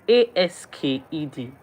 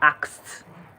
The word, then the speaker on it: asked: It is a s k e d. It is supposed to be asked. But it is very difficult to pronounce that word fast.